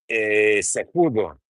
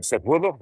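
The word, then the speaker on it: Cejudo: Ronnie Coleman, you look like Henry Seudo, if I pronounce that right. Sudo.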